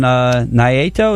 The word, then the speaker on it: Naito: When he was taking on Kenny Omega, but now Jericho taking on Naito. Is that how you say it? Naito. Yes, Naito.